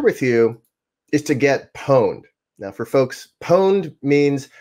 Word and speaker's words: pwned: want to share with you is to get pwned. Now, for folks, pwned means someone has found a vulnerability in your system. And, you know, the worst vulnerability, the more pwned you are.